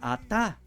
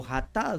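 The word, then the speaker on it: חטא: Es más, la palabra hebrea para pecado es la palabra atá o jatá. Se traduce, se puede pronunciar también jatá.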